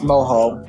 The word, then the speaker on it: mojo: It's moho. You're right. It is moho. In Spanish, the J is pronounced like an H.